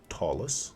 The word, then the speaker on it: Ptolus: in your DND story Tolus is well tallest if you uh pronounce it the way that apparently it's supposed to be um it's a really